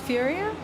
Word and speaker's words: Furia: far um reg is nice kawanda is nice Furia I said it right that time finally uh